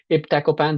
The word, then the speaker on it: iptacopan: So my Arab colleagues would not pronounce it as ibtacopan. They would say ibtacopan because there is no P in Arabic.